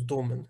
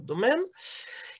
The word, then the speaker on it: домен: Наголос домен неправильний, треба казати саме домен.